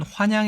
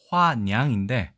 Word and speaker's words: 화냥: 사실 발음 은 " 환냥 " 이 아니라 " 화냥 " 이고 , 한국어 사전 에